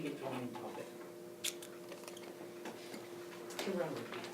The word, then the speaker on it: chirality: chirality or chirality. So if I pronounce it with CH with a ch tonight, you'll understand, because I keep wanting to do that.